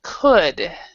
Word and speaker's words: could: word right here uh we actually do not pronounce the L so we would say he could yeah he could okay